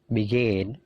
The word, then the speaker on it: begin: Begin. Jadi perhatikan stressingnya. Stressingnya punyanya come, punyanya gain, punyanya leave. Jadi stressingnya itu di suara yang kedua.